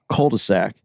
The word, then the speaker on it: cul-de-sac: People always say cul-de-sac.